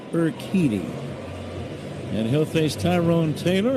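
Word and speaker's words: Urquidy: U R Q U I D Y pronounced Eriti and he'll face Tyrone Taylor and then the top of the order Pete Crow Armstrong and Seya Suzuki nothing nothing game.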